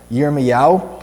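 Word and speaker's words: ירמיהו: In Hebrew, his name is pronounced yermea.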